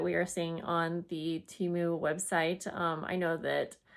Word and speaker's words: Temu: are seeing on the Teimu website. Um, I know that a handful of you watch my teu. I've been saying it wrong this whole time. I'm still going to say Teimu.